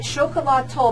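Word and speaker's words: Xocolatl: is, and let's just say it, is it Chocolat Toll, but let's, you have to know how to spell it, so that's why I'm going to spell it out for everybody.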